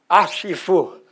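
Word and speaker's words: HIFOO: And we have a code called HaiFu, which in French for Roland is pronounced Ashifu.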